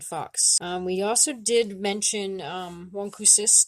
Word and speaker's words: wôkwses: We also did mention wôkwses during the lesson for the O sound, the nasal O, as well as molsum, which is another one of our dog friends.